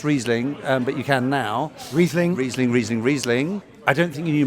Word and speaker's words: Riesling: It struck a chord, and I thought that was good because, apart from the fact you couldn't pronounce Riesling, but you can now. Riesling.